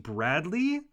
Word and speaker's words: Bradley: It's actually pronounced Bradley. Um, but a lot of people make that mistake and call me void, so it's all good.